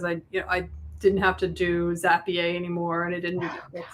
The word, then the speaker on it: Zapier: I can't tell you how much money I saved because I didn't have to do Zapier anymore, and I didn't that's how it's pronounced.